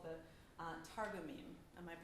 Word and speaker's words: Targumim: And it contains the Hebrew scriptures and the traditional commentaries called the Targumim. Am I pronouncing that correctly?